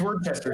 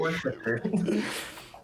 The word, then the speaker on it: Worcester: It's Worcester sauce, not Worcester.